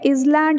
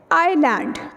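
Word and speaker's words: island: अब इसको हम हम इस लैंड नहीं बोल सकते इस लैंड इस लैंड बोथ रॉन्ग उसकी वजह इसका जो एस है ना डांस एक्चुअली साइलेंट ठीक है जिससे एडमिट में हमारा ऑयल साइलेंट था यहां पर इसमें ऐड हमारा साइलेंट है ठीक है तो एक्चुअल प्रनंसीएशन क्या हमारे पास रह जाती है आयरलैंड ठीक है आए जैसे जे के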